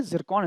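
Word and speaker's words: Tsirkon: टी इसमें है बट T silent है, आपको ध्यान रखना है, जिरकॉन इसका नाम है, ठीक है।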